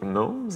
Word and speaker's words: gnomes: to pronounce prounce that in French we pronounce the G so gnomes I guess um I